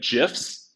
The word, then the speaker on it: GIF: You know, if y'all are LinkedIn followers, if you like GIFs, which is the correct way, by the way that it is pronounced, follow me because I have good GIFs.